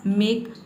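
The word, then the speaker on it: make: तो किसी भी वर्ड के अंत में अगर ई आता है तो वहाँ पे ई लेटर साइलेंट रहता है, ई को हम प्रोनाउंस नहीं करते हैं। तो यहाँ पे देखिए एम का हो जाएगा म और ए का हो जाएगा अ और के का हो जाएगा क। इस तरह से ये बन जाएगा आपका मेक।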